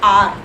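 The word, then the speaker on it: hour: क्योंकि इसमें first word silent होता है। हम हॉनेस्ट नहीं बोलते ना, हार नहीं बोलते ना, ओ से बोलते हैं ना, ऑनेस्ट, आर, इसलिए हम इसके आगे एन लगाते हैं।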